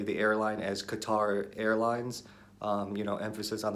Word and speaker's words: Qatar: look super ignorant so I've been saying Qatar just to show that I'm trying to say it right even though obviously I can trying not to put too much emphasis on the TA R so I don't